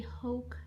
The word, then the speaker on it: Hauck: video in order to show you guys the hoch shopper that's the right way to say it's